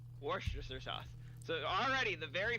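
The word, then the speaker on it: Worcestershire: at at the beginning War the if I pronounce it War Chester Shire let's break down the syllables if I if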